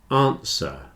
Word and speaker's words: answer: listen Castle whistle listen answer and sword have no W answer sword answer and sword